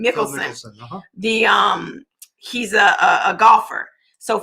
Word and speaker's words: Mickelson: We call it in the tax and accounting world, the Phil Mickelson, that's how you say his name, Mickelson.